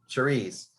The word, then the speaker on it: Cerise: Cerise, cherry in French. Okay, Cerise.